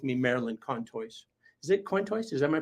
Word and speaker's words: Contois: Is it Contois? Is that my pronouncing that right? Yeah, Okay, Marilyn Contois.